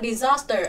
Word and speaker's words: disaster: Rõ ràng disaster, âm thứ hai là âm dài nên nó sẽ nhận trọng âm. Nên chúng ta sẽ chọn disaster và thứ hai, còn lại thì nhấn âm 1.